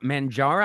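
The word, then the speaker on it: Mounjaro: Mangaro.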